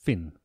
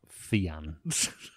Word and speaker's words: Fionn: I just typed in Fionn into Google and it said it's pronounced Finn, not Fionn.